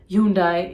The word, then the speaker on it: Hyundai: Chevrolet not Chevrolet it is Chevrolet this is pronounced the same it is Hyundai it is not Hyundai or Hyundai it is